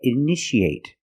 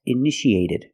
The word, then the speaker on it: initiate: see a new word you see TI a how do we pronounce it that's right sh sh so how do we pronounce this word that's right initiate in the present initiate in the past initiated the second T is between vowels so we pronounce it like a fast D Ed initiated initiated it